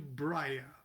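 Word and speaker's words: Briah: de viode vave and now we're going into braya or you can pronounce it bria the world of soft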